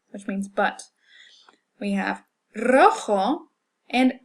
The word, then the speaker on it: rojo: We have rojo and restaurante. Okay, notice that these begin with an R. It's written as a single R, but we pronounce it as a trill because it starts off the word.